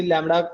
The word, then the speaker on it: lambda: अभी लैम्बडा है इसे लैम्बडा प्रोनाउंस करते हैं.